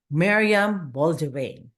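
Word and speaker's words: Meriam Bain: your journey without further Ado let's all welcome Mariam Bain did I get it right you did it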